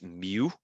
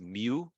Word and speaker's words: mu: it's not a you okay it's a it's mu that's how you pronounce it mu micrometer it's a Greek letter and one uh